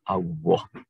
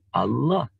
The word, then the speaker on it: Allah: kadang-kadang di antara kita dalam pengucapannya lebih suka menggunakan huruf wawu atau w, sehingga pengucapannya Allah, bukan lam, Allah. Padahal kalau melihat dari sisi asal-usulnya, dia sebenarnya harus kita ucapkan dengan menggunakan Allah.